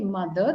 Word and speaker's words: mother: Like when you say mother, okay, mother, that R is silent towards the end. Mother. For the Okay. dictionary and as per the British, that's the right pronunciation.